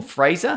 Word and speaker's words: Fraser: in it yeah Oh Fraser how do you say razor it's Fraser it's not Niles uh anyway okay if